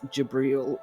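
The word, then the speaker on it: Jibril: in advance I believe he is referred to in the Islamic text as jabriel with a j i b r i l so it's just a different pronunciation but it is the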